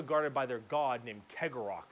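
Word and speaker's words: Cegorach: by their god named Kegarok, I believe is how you pronounce his name.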